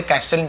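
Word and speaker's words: castle: There young man सॉ a very big and beautiful कैसल, ठीक है, टी को नहीं पढ़ते, कैसल टी साइलेंट लेटर होता है, कैसल पढ़ेंगे, ऑन माउंटेन टॉप।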